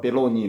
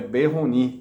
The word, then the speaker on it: Peyronie: Et il a mis cette Peyronie, la personne parle Peroni. Mais la chose sûre est Peyronie. Comme c'est du français, la prononciation à la fin.